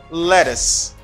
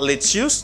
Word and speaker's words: lettuce: pronounce it bad but in english it is pronounced as you say lettuce lettuce lettuce lettuce lettuce i'm sure you listen